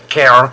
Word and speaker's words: Karen: The lady on the left there of the picture is Karen, and if you're from the southern states, you've got to pronounce it Karen, as you'll hear when she comes up in the jingles.